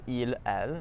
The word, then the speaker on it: ils: So these are il. Notice that the s at the end is actually silent.